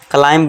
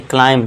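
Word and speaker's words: climb: तो इसे आप क्या पढ़ना है? क्लाइंब। क्लाइंब नहीं। क्लाइम। क्यों? क्योंकि एम के बाद बी है तो यहां बी साइलेंट हो जाएगा।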